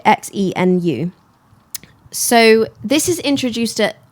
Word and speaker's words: Xenu: I think that's how you say it, Xenu.